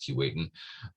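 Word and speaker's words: Keewatin: now the northwest territories and since it's normally pronounced kuwait and despite the way it's spelled that's properly pronounced key waiting i thought ha i've caught caught lamere i've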